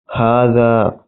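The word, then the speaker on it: هذا: Hada is written without alif, but it is pronounced hada.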